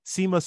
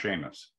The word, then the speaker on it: Seamus: common one one last one from uh CMOS Seamus siwo oh I'm sorry it's pronounced Sheamus Sheamus the seagull thank you thank you that